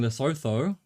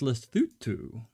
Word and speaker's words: Lesotho: how you pronounce it i was saying lesotho but apparently it's lestutu or something like that okay okay i'm not